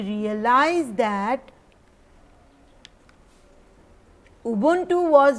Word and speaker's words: Ubuntu: Let me tell you right now also, it's double O U B double O N T double O, Ubuntu.